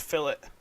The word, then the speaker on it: fillets: they're not called fillets they are pronounced fill it it's a big deal